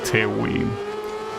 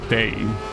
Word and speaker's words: Tewi: Well, in my case, that example mostly applies to a character named Tewi, except that that's not how you pronounce it. You pronounce it Tei, but I'm not gonna get used to that, dude.